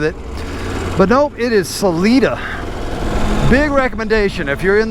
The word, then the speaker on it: Salida: me straight cuz I hear people call it Salida I was like it doesn't sound right but let's go with it but nope it is Salita big recommendation if you're in this area stop